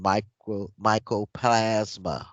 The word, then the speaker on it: mycoplasma: You need to also read up on mycoplasma. Spell it, Nazi. It's M I M-Y. M Y CROPLASMA. No, mycoplasma. Micro.